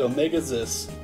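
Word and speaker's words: Omega-Xis: you kid who are you the name is Omega zis I Omega zis I how have I how have I always pronounced it Omega ziss I think that's how I've always pronounced it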